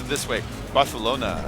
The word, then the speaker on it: Barcelona: Barcelona. You have to like say the c like a th.